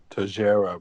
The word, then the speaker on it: Teixeira: what I called Texera. him. He clearly pronounced it Tajera, but Nigel wants to be American.